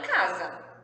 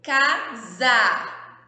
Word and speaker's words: casa: aqui é uma casa casa mas a palavra casa era se escreve com a letra s tá olha só ué se ele fica com som de z quando ele tá no meio das vogais e essa palavra as